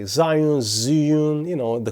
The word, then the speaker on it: Zhiyun: Okay, so it pronounced Zhiyun, meaning smart cloud.